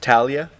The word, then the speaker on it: Talia: How you pronounce that? Talia.